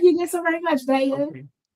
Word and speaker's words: Bella: I just did want to say that my name is pronounced Bea, not Bella. Right. Bea. Double L like quesadilla.